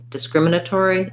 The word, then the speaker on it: discriminatory: tack on your discriminatory so you have a little light unstressed first syllable then we have our scrim syllable discrimin another unstressed in schwa so i would think about this one as being de um scrim think about kind of you might want to build from rim so trying rim crim